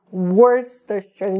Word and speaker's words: Worcestershire: Worcestershire. Escreve Worcestershire, mas não é assim que a gente pronuncia.